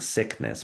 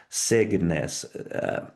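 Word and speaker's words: Cygnus: And I know when I pronounce it, some people think I'm saying sickness, but it's signness c y g n in us.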